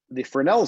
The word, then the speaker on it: Fresnel: Fresnel is actually spelled like Fresnel, but it's pronounced Fresnel. It's a French word.